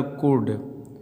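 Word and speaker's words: could: इसी प्रकार कुड, यानी डी से पहले देखिए यल दिया तो इस यल का उच्चारण क्या हो गया, साइलेंट।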